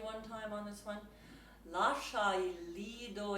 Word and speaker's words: Lascia: And so even when you see, sometimes an I is there to soften a C, as it is in Lascia, so you don't pronounce that I at all.